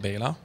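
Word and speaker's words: Béla: It's actually pronounced Bela.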